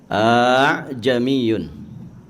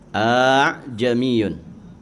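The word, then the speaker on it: ءَأَعْجَمِيٌّ: Hamzahnya dua di situ. A'jamiyun karena hamzah pertama itu istifham, kata tanya atau huruf tanya. Nah, maka ya dalam kaidah tajwid, hukum tajwid itu ditashil bacanya. A'jamiyun. A'jamiyun.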